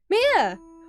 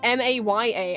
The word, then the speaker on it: Mia: I guess this is Mia that makes sense given it's Japanese sorry Chief is called Mia not Maya I pronounced it wrong the other girls called